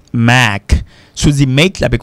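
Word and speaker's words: Mack: Pour celui écrit M A C K, ça se prononce make.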